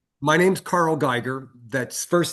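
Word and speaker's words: Geiger: Your name and spell it for the record. My name's Carl Guyger. That's first name C A R L. Last name G E I G E R. Okay. Mr. Geger, can you turn on your camera?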